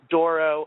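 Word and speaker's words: Douro: after the river uh it's spelled D o u o and if you think about it it kind of Rhymes Doro and Bordeaux so the Reds from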